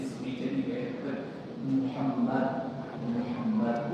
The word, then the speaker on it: Muhammad: Always, don't try to imitate what those writers want to say. Okay? You say Muhammad. If they can't pronounce it properly, that's their problem. Teach it as well, but you yourself say Muhammad.